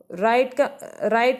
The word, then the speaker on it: write: दाहिने का है WRITE, राइट का मतलब होता है लिखना, यहाँ पे W साइलेंट है।